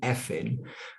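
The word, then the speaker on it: Cynefin: And what this relates to, and Affin is pronounced Affin, and actually it's a Welsh word that talks about multiple factors in an environment and our experience in influences us in many different ways.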